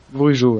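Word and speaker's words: Bourigeaud: J'arrive pas à le prononcer. Bourigo. Bourigo, ouais, c'est bien ça.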